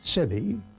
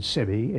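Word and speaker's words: sebae: But the great thing is that both of them are known by the scientific name Lugenus sebi. Lugenus is the genus name, spelled with a capital, and sebi, S-E-B-A-E, is the species name, and that really nails it down.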